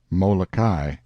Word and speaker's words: Molokai: We came in sight of 2 of this group of islands, Oahu and Molokai, pronounced Oahu and Molokai, on the morning of the 18th, and soon